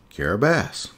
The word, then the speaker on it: Kiribati: certain letters for instance the letters t i actually make this s sound so the name of the country in gilberti's is carabas even though it looks like caribbean being in micronesian